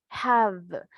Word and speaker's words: have: Have. ¿Se acuerdan que esta V en inglés tiene sonido fuerte? ¿Verdad? Have. Pronunciación. Vean mis dientes cómo se colocan en mi labio inferior, ¿verdad?